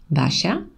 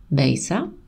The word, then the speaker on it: Basha: what it's like because my name is often mispronounced instead of basha i've been called basa basha basa etc and please what was